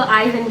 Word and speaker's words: इवान: इवन उसका नाम इवान Goyal है। एक्चुअली वहाँ के लोग थोड़ा प्रोनाउंस नहीं कर पाते, तो उन्होंने उसको आइवन बोलना शुरू कर दिया, तो फिर हम भी आइवन बोलते हैं।